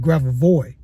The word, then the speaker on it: Grabovoi: Now, this number is called a Gravovo number or Gravovo codes, or you can call it Gravovoy.